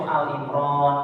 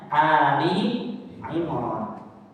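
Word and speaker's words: آل عمران: Artinya kan kadang ada yang suka baca itu Al Imran, padahal kan Ali ya, Ali bukan Al. Ya, bacanya Ali Imran.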